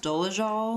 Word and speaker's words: Dolezal: wow well it's funny Rachel dool I guess it's pronounced doal yeah do she even okay